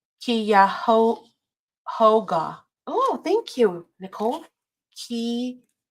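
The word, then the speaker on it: Cuyahoga: It's pronounced Kyo Hoga. Oh, thank you, Nicole. Kyoga. Kyhoga.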